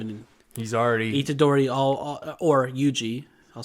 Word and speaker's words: Yuji: was he had real high hopes for this ugee guy interesting because they've only known each other for such a short time and he's already itadori or yuji i'll say it right since for some reason